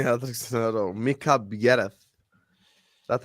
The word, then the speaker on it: Biereth: Mika Biereth.